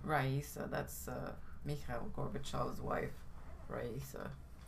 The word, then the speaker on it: Raisa: Well, how do you pronounce her name? Raisa.